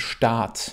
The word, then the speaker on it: Staat: Also es ist irgendwo in der Mitte zwischen dem kurzen A und dem langen A auf Deutsch. Es ist sehr wichtig, dass du differenzierst zwischen den Wörtern, zum Beispiel Stadt, wo die Personen leben, und Staat, Stadt, Staat.